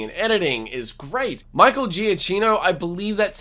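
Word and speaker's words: Giacchino: level in filmmaking and editing is great michael giaccino i believe that's how you say his name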